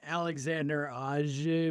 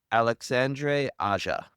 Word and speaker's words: Alexandre Aja: That's an Alexander Aja movie, or however you pronounce his last name, right? Yep, We directed that. Alexandre Aja.